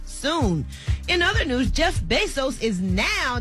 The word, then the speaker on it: Bezos: could reach epidemic proportions soon in other news Jeff Bezos is now did I say it right Bezos or be so sounds good BES OS yeah be z/os is now